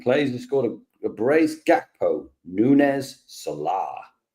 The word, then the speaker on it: Salah: Jackpo Nunez Salah. Nice. Why are you saying Salah like that? Because that's how you say it. Muhammad Salah. Salah. That's how Mo says it.